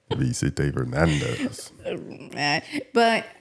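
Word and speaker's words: Vicente Fernández: Vicente Fernandez.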